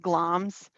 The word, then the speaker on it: Glamis: to the ethane of gloms and it looks like glamis but it's actually pronounced gloms that's macbeth's current title